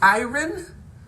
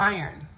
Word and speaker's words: iron: Lisette says, I don't like it when the R in iron is not pronounced. Do you say it iron or iron?